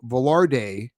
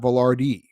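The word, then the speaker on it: Vilardi: the show but that I was not pronouncing Gabe velardi's last name correctly apparently I was saying velarde and not valardi man it's a minor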